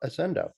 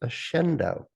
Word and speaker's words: Accendo: today that's about ascendo ascendo as I've been um told from an Italian friend of mine that that's the word for illuminate and it's based in the Latin and it's typically pronounced a shendo I did not know